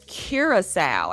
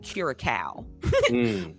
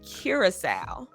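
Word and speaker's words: Curaçao: It's Curasowl, actually.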